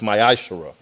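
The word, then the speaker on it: מעשר: of Malachi 3: 8-10 it means a 10th in the Hebrew and it is pronounced myash a tenth of every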